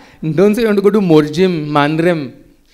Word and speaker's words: Morjim: Because in Konkani and in Portuguese, we don't pronounce the M.